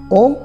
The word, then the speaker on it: ওম: করে নিতে হয় আত্মাকে আর ওম উচ্চারণে রয়েছে এক বিশেষ পদ্ধতি সেটি হল নাভি প্রাণায়াম নাভি থেকে উপরের দিকে নিঃশ্বাসের সঙ্গে বের করতে হয় ওম শব্দের ধ্বনি অর্থাৎ এই প্রাণায়াম শুরু হলে ওম ধ্বনি উচ্চারণ হতে শুরু করে ত্রম্বকম বলতে কি বোঝায়